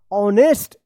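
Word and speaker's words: honest: इसको पढ़ा जाएगा ऑनेस्ट। एच ओ एन ई एस टी ऑनेस्ट young Y ओ यू एन G young boy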